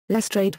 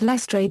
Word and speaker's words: Lestrade: in the series lr's name was pronounced with a longer sound rhyming with trade as opposed to the usual practice in screen or audio adaptations of using the French pronunciation equals in other media